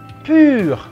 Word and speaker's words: pur: Yang di bawah murni itu pur, pur, ya.